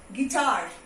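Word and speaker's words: guitar: नाउ यू, गिटार. Okay, you again is silent over here.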